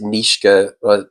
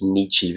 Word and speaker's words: Nietzsche: I feel like Some people pronounce it Nishka and I've been told off a few times that it's Nietzsche.